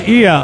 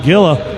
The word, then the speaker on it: Gila: Gia is pronounced Ia. Oh, my goodness. I used to call it GILA.